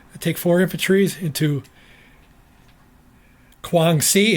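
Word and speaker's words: Guangxi: take for infantries into Kuang si it's called Kuang si not kwang SI kwang SI I saw that brief pronunciation over the internet for that so it's kwang SI they're going to from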